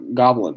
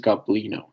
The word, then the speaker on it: Goblino: So um, his name is not Goblin, my guy. His name is Goblino. Goblino. It's a very, very key difference.